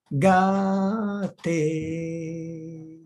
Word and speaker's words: Gate: Alors, une personne demande comment prononcer le mantra Gate. Gate, Gate, Gate, Gate.